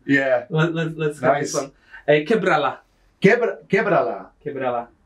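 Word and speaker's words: Quiébrala: Quebrala. Quebrala. So that should have an accent on the E. Quebrala on the first E.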